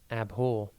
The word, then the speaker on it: abhor: one word at a time today's word is abore it's pronounced AB and it is spelled a b